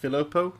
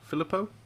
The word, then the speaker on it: Filippo: off crashed and uh is it I'm not pronouncing that filopo Filippo uh yeah it's one of the new ones